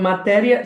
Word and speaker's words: Materia: It's called Materia.